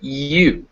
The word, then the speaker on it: ewe: It's most commonly pronounced U, as in view, or ewe, which is a female sheep.